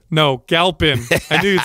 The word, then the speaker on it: Galpin: Galpin. No, Galpin.